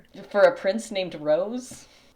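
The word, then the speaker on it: Roze: was reading this and I pronounced this ro o ze. It has a pronunciation guide at the beginning of the book and it says rose.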